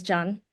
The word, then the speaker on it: Jan: So a lot of friends do call me Jan, but it is a Vietnamese name, so the correct pronunciation is Jan.